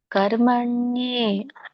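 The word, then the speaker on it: ಕರ್ಮಣ್ಯೇ: ಕರ್ಮಣಿ ಇವಾಗ ಹೇಳ್ತೀನಿ ನೋಡಿ ಕರ್ಮಣ್ಯೆ ಮತ್ತೆ ಇಲ್ಲಿ ಕೂಡ ಅರ್ಕಾವಳಿ ಇರೋದರಿಂದ ರ ಮೊದಲು ಹೇಳಬೇಕು ಆಮೇಲೆ ಮ ಹೇಳಬೇಕು ಕರ್ಮಣ್ಯೆ ನಕೆ ಯವತ್ತ ಇರೋದ್ರಿಂದ ದೀರ್ಘ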